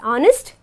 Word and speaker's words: honest: like honest and are where H becomes silent and we pronounce it as honest and our okay we